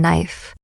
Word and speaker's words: knife: Why is the K silent in knife? Because the K is shy.